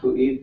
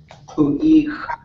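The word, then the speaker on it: ḵu.éex': Pu'ik. Pu'ik. Yep. And it's an underline K, letter U, period, E, X, apostrophe.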